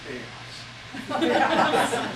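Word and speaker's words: Kaos: Weston's second name, just in case there's someone who doesn't know, it's Chaos. It's spelled K-A-O-S, so we won't be embarrassed later in life much.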